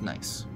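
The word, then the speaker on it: gneiss: form the cliff face and yes that's pronounced nice each of the tall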